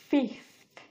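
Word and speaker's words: fifth: next হচ্ছে cloth cloth জামা কাপড় ক্লথ দেন ফিফথ ফিফথ ফিফথ লাস্টে গিয়ে থ সা সাউন্ডটা প্রোনাউন্স হচ্ছে ফিফথ আমাদের এখানে আর তিনটা অবশিষ্ট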